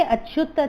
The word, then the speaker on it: अच्युत: हाणे अर्जुन हिते हिकिड़ो ॿियो अखर आहे, अर्जुन कृष्णा खे अच्युत थो चए। अच्युत फर्स्ट लाइन में तव्हां ॾिसंदा न, रथम स्थापया में च्युत, च्युत जो ए साइलेंट है, अच्युत।